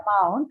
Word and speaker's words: amount: you about right so in the word amount the first vowel sound you see is the schwa right since that sure is unstressed the stress is taken on to the next possible syllable which is Mount okay which is why Mount the the second syllable in this uh word takes the stress even though it's a noun okay this is an